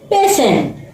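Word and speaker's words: patient: promotion promotion देखा बच्चों आप लोग अगर टी के बाद आई ए आई ई आई ओ आदि वर्ण दे रखे हो तो टी की ध्वनि क्या हो जाती है श श टी की ध्वनि श हो जाती है हमारा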